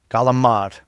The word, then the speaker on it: calamari: How do you pronounce Calamari? Calamad.